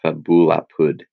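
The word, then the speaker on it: fabula apud: It's because we have an elision. The E drops out. So the E drops out. So it's pronounced fabulapud.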